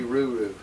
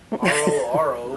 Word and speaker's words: RoRo: Is she RoRo or is she RuRu? RoRo. RoRo, oh. Oh, we've been saying it wrong.